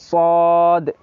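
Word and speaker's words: ص: সদ অর্থাৎ এটা দন্তাস ওকার দিয়ে হবে সদ, দন্তাসের পুরো উচ্চারণ হবে না।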